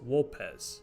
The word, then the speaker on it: Vulpes: This can be seen in the greeting Ave, meaning hail, pronounced as Awe, or in Vulpes Inculta introducing himself, pronouncing his name as Wolpes instead.